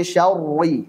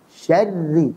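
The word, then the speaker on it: شَرِّ: Contoh, min syarri, salah. Syarri, tipiskan.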